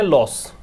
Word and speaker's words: loose: अच्छा, इसका pronunciation लूज होता है। इसको पढ़ते हैं, देखो मैं लिख देता हूं, LOSS को पढ़ते हैं लॉस, ठीक है। LOOSE को पढ़ते हैं लूस, और LOSE को पढ़ते हैं लूज।